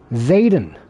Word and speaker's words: Zetan: Zatan? Zetan? How to pronounce Z-E-T-A-N. How to pronounce. Okay. I'm gonna test this out real quick. Zayden. Zayden. Okay, Zayden. Good to know.